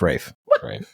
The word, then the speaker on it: Ralph: say his name is Rafe there's a freaking l in it yeah it's Rafe F I don't like